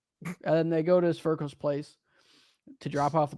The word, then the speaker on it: Sverkel: They say Steve Urkel. I say no, Sverkel, dude.